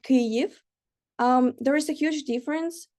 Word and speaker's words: Kyiv: little mistake by saying Kiev and not Kyiv. There is a huge difference because Kiev is a Russian pronunciation of the capital of our country, and Kyiv is the Ukrainian pronunciation.